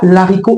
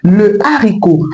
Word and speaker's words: haricot: On ne dit pas l'haricot, on dit le haricot parce que la consonne H devant ce mot est aspirée. Donc elle est bien présente dans la prononciation de ce mot.